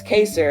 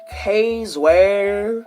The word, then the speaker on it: Kaser: And I said, here, it's Kaser, and then they were like, who is K's where? K's where?